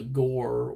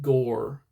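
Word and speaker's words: gaur: They're huge compared I mean they're but they're called gore. Um gar I think you actually is the right pronunciation.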